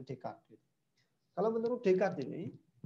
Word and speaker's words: Descartes: Kalau orang Indonesia ini kan bacanya Descartes kayak gitu. Bacanya Descartes ya kalau orang Indonesia. Nah, tapi dia orang luar bacanya Descartes.